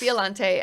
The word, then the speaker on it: Biolante: I just skipped them because I was like, I don't know how to pronounce this. Yeah, it's Biolante.